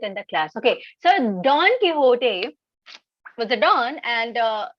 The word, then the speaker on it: Don Quixote: a novel don quixote that's how it is pronounced don quixote so there's a novel on don quixote and it has been said it has it's